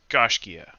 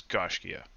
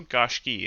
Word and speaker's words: Gaiscioch: In any case, our name, Gaiscioch, pronounced Gaiscioch. There are 1,000 ways to mispronounce it. Um, the version I've learned is Gaiscioch. There's also Gaiscioch if you're from the northeast of Ireland.